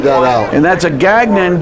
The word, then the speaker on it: Gagnon: out and that's a Gagnon G a G and ol n and it's pronounced just the way it's spelled Gagnon just thought I'd tell